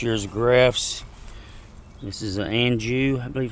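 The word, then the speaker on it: Anjou: This is a Anu, I believe, how you say it.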